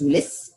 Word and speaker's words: Sulis: So it's pronounced Sulis. Sulis is a Celtic sun goddess who oversees bodies of water associated with healing.